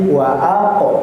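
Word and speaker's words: وَأَقْرَبَ: Ya, qalqalahnya tadi kurang ter kurang jelas sedikit ya. Memang qalqalah sugra tipis tapi jangan pula seperti waa wa tapi waq diperjelas qnya thnya pantulannya itu nggih.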